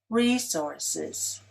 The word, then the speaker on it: resources: Resources. RE-sources is stressed on the first syllable, as i just said it. However, this word can also be pronounced re-SOURC-es, with the stress on the second.